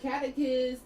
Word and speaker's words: catechist: When I'm saying catechist and catechism is spelled like cat, so CATECHIST.